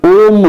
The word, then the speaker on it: ओम: ओम मंत्र का जाप, इसमें तीनों अक्षरों अ, ओ, म की ध्वनि का स्पष्ट उच्चारण होना चाहिए।